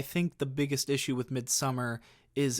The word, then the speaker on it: Midsommar: Midsummer, I know it's pronounced Midsommar, but it doesn't roll off the tongue as nice for me.